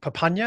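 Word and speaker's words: Papunya: early childhood in uh correct me for wrong papanya is that how you pronounce it yeah very very early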